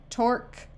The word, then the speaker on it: torque: in the word mosque torque critique and technique notice in these words the U and e at the end are all silent mosquito is not French